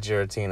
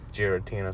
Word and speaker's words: Giratina: I call it Giratina because Kaitos told me that's how they say it in Japan.